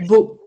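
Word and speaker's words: бөө: Beau. Alors, c'est B-O-O-. Beau, c'est un vrai mot, mongol, qui veut dire chaman, qui se prononce beau, comme B-E-A-U.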